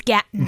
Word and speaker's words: Gaten: I think it's Gaton. Gaten Matazaro. Uh and this trailer is so odd though.